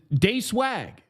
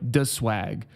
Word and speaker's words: Day Swag: Day Swag, which if you guys didn't know, the only way to pronounce that is Day Swag. Don't mess that up. Don't disrespect us out here by calling them like the Swag. Like you would think. It's Day Swag.